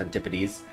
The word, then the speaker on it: Antipodes: I think it's pronounced Antipodes.